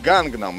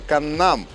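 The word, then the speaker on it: 강남: Многие из вас этот район знают как Гангнам, и это неправильное произношение, основанное на английской транслитерации, в которой есть буква G в начале и в середине. Правильное же произношение именно Каннам, где ударение идет именно на второй слог «нам».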